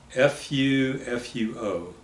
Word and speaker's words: fufu: local food called fuu that how do you spell that Fu fuo okay so you don't sometimes you hear the O pronounced on the INF fuo but we just always said Fufu uhhuh and what is it Fufu is uh